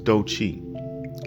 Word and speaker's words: Doechii: And then I was like, no, it's Doechii. Like Do as in money, Chi as in good energy.